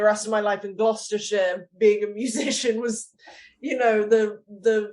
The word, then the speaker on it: Gloucestershire: Because I've taken grief from certain people on the panel about how I pronounce British things, Paul. Yeah, it's Gloucestershire.